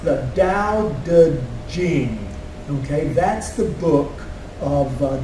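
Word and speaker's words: Daodejing: things what's on the line there is it's pronounced the Dao de Jing okay that's the book of Taoist AIDS okay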